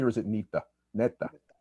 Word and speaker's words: Neta: Did I pronounce that correctly, or is it Neta? Neta. It's Neta.